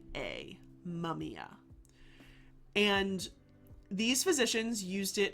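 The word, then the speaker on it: mumiya: to the 11th centuries and they called this mumia. That is spelled m u m i y a mumia.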